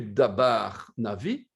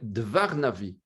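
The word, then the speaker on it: דבר נביא: Ce n'est plus dabar navi, c'est dvar navi. Vous voyez ici, le B devient un V.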